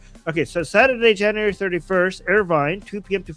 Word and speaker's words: Irvine: Uh, oh my god, the city is Arvin. Arvin Arvin, right? Did I pronounce it right? LA Irvine. Uh, this Irvine.